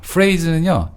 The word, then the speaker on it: phrase: phrase는요. PH가 또 F 발음 났죠?